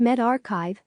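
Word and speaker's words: medRxiv: least two of them Meldrick civ pronounced med archive for health sciences and bio exif pronounced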